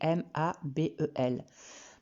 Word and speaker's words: Mabel: Je précise ici que c'est le prénom de l'auteur, ça s'écrit M-A-B-E-L. Parce qu'à l'audio, on pourrait interpréter Ma et plus loin B-E-2-L-E. Donc c'est Mabel, c'est son prénom.